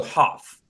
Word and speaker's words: Hopf: And Lola, Lola just got here and she's chastising me because the P is silent, Lola says, apparently. So you could have corrected me, Michael. Get it right, man. It's okay. No, okay. So Hopf.